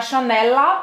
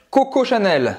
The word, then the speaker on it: Chanel: O L nunca vai ter som de U em francês, certo? Então é Chanel, você vai simplesmente pronunciar esse L, vai terminar a pronúncia no céu da boca e solta a língua.